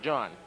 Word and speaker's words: Jean: It's spelled Jean, but it's pronounced John.